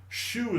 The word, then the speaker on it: Xu: Xu Xu Xu is pronounced is spelled in English XU.